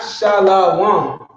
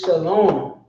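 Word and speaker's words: שלום: This is how he pronounces that, because this wa makes the la turn into an o sound. So shalom. He'll tell you himself. This is not shalom. This is shalom.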